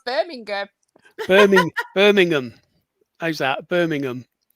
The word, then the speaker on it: Birmingham: We see Birmingham, but we don't say the G, so we probably say it wrong.